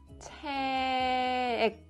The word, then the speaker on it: 책: The book in Korean is 책. You have to block the air at the end. If you pronounce like 책 or 책, that sounds very weird.